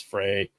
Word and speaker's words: Fray: It's Fray. It's F-R-A-Y. Say Wong. You should know how to spell it.